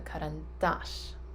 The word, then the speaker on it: карандаш: so this is our karan dash okay the accent is on the last a so karan dash so karen dash is